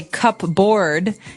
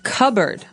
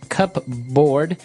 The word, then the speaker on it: cupboard: So you might want to say cupboard because it's cup c u p b o o a r d. That's not right. The word is pronounced cupboard.